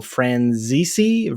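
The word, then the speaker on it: Franzese: Mean Girls is directed by Mark Waters, stars Lindsay Lohan, Rachel McAdams, Lacey Chabert, Lizzie Kaplan, Daniel Franzisi.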